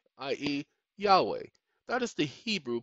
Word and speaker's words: Yahweh: and stupid misguided people there may not be a j in the hebrew language but there is a y i.e yahweh that is the hebrew